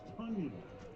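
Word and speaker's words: Tonyan: It's Tunyon, the tight end, and he takes it to the 30-yard line. Breakout season for him, whose name is spelled T-O-N, but it's pronounced Tunyon.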